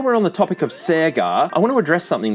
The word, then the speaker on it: Sega: my pronunciation of Sega I know the rest of the world says Sega and a lot of Australians would too because it's been a long time since Sega was a household name I'm not making up the Sega pronunciation if you look at old TV ads from Australia they all say Sega seag SE SE SE SE nobody I knew when I was a kid said Sega so for whatever reason Sega